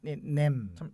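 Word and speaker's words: Nem: 그 아니오가 이제 냄.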